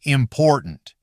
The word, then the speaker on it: important: Take the word important. If you pronounce the middle T too strongly, almost like a full separate syllable, it sounds awkward. In natural English, that T often gets weaker or nearly disappears.